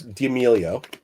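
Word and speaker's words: D'Amelio: It's so it's Damelio even though it's spelled course the Italian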